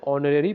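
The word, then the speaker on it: honorary: मा mister Gokhale is यहां ए silent है फ्रेंड्स इसलिए यहां पे जो है एन लगा देंगे हम लोग mister Gokhale is एन ऑनरी president of our society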